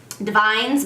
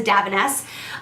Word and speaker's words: Davines: And this is by Davines. That's how my hairdresser pronounces it. I think it looks like it's Divines, but he says Davines.